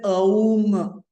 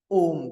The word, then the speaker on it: Om: to pronounce it as A U M. You have to pronounce it as Om, because A and U makes the sound O.